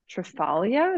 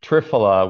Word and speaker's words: triphala: never heard of it um it's is it pronounced trafalia is that how you pronounce it it's triphala which is a it's basically a combination of